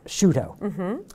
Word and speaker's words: Sciutto: It's actually Sciutto, like prosciutto. Sciutto.